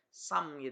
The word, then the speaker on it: sum: nya dari mana gitu Samir Ya kalau bahasa Inggrisnya santap ini kenapa saya bilang sum karena tulisannya Oh ya bacanya Sam Oke Nah misalkan contoh